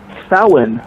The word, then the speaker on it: Samhain: Todd, they called it Samhain. Samhain. Yes. Go ahead, Todd. Samhain. Samhain. Oh, okay. I thought Well, it was that's not how it's spelled, but that's how it's pronounced. Samhain, like Sam Yeah, Hain.